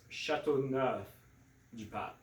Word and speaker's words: Châteauneuf-du-Pape: sometimes people just have a hard time pronouncing. So it's Châteauneuf-du-Pape, There you go.